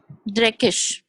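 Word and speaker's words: dreckig: Why does G, the letter G, has this sh sound? Z. Which one? Like for example, in dirty, how did you pronounce dirty in German? Dreckisch. Yes, ma'am. This sh sound. So G is sh as well.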